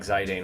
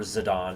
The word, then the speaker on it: Zidane: But I really do like Zidane a lot. Or Zidane, as it's probably properly called.